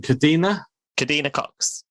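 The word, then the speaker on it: Kadeena Cox: How do you pronounce her name? Kadina Cox.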